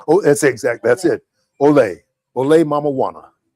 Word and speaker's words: OLE!: Is that how I pronounce it? Oh, that's exact. That's it. OLE Mamajuana.